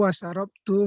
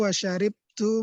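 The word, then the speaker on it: شَرِبْتُ: Akaltu wasarabtu ma'al akhi. Ya, ini kita baca syarib ya. Ini dengan syarib. yang fushanya dibacanya syarib. Akaltu wasyaribtu ma'al akhi.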